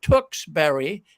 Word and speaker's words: Tewksbury: it got my attention it spelled a little bit different but they still pronounce it Tewksbury this is an English